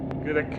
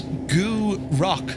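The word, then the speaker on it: Gourock: Gurick. Gurick. Did you say gurick? That was a grunt. I think you'll find the pronunciation is goo rock, sir.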